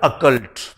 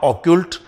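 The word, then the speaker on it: occult: एक शब्द है अकल्ट, पहले तो इसका प्रोनाउंसिएशन में ध्यान दीजिए, अकल्ट नॉट ऑक्यूल्ट, this is अकल्ट।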